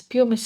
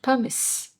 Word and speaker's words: pumice: And all these years, I've heard people call this as pumice stone. And day before yesterday, when I was preparing for this video, I suddenly came to know that this word is pronounced as pumice.